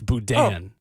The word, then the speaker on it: boudin: By the way, apparently I mispronounced Boudin. It's Boudin.